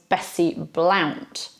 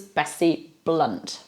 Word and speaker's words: Bessie Blount: of his illegitimate son now surely her name was Betsy Blount well no it was Bessie Blount that's how that's pronounced then we have the